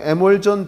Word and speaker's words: 에멀전: 수성 에멀전 페인트. 에멀전이라고도 하고 에멀션이라고도 발음하는 거야.